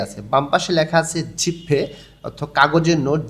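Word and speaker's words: 지폐: বাম পাশে লেখা আছে জিপফে, অর্থাৎ কাগজের নোট। জিপফিয়ে এখানে উচ্চারণটা হবে না, উচ্চারণকে সহজ এবং দ্রুত করার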